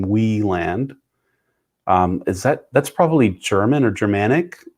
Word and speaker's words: Wieland: Oh, it looks like I correctly pronounced Sean's last name, Wieland.